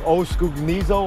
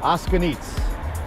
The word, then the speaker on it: O'Scugnizzo: I mean, you look at the spelling, it's like Oskugnizo or something, but the common pronunciation, I believe, is Oskugnitz.